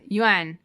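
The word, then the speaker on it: Yeun: Yuan.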